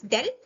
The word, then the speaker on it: del: they're often represented by the symbol del and they are pronounced as del or navla.